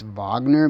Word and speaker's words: Wagner: indoors you know technically since Wagner is pronounced Wagner because in Russia the W makes a v sound does this technically mean